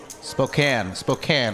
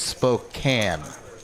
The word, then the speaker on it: Spokane: Spokane, right? I said Spokane earlier. Obviously, being from Texas, not knowing how to pronounce it. So it's Spokane.